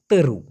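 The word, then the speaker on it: teruk: কি তেরো মূলত ভাইয়া উচ্চারণটা হবে তেরো তেরো এই ক টাকে করে একটা ধাক্কা দিতে হবে মালয়েশিয়ানরা এই ক টাকে ক এরকম উচ্চারণ না করে এরকম একটা উচ্চারণ করে এজন্য শোনা যায় তেরু বলেছে মূলত ওরা বলতেছে তেরো তেরো এরকম একটা এটার মানে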